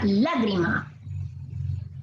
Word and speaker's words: lágrima: Tenemos la palabra lágrima. La. Bien. Lágrima. La. Esa tiene la mayor fuerza de voz.